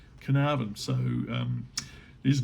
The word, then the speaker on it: Carnarvon: spelled carnavon it's pronounced carnavan like can I have an apple can I have a banana carnarvon so um he's not